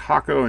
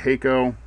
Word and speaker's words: Hakko: you didn't happen to know that it's actually pronounced hako instead of heo well anyway that's the first piece of misinformation